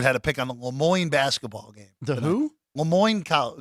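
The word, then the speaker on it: Le Moyne: what are they Leon Le Moine Le Mo rhymes with de Mo yes Le Moine Dolphins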